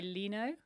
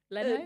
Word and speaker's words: Leno: Jay Lenino. Leno. Jay Leno. Yeah, the Tonight Show. The Tonight Show. All British people get that pronunciation wrong.